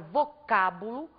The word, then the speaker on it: vocábulo: exemplo vocábulo na palavra vocábulo nós temos aqui a última sílaba a penúltima sílaba a antepenúltima sílaba ao pronunciarmos a palavra vocábulo nós acentuamos a antepenúltima sílaba o mesmo vai acontecer